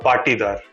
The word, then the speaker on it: Patidar: मैंने आपका सरनेम जो है ठीक तरह से प्रोनाउंस किया है? Yes, more or less. It's Patidar. I want to get perfect. Tell me, how do I say the second name? It's actually Patidar. Patidar.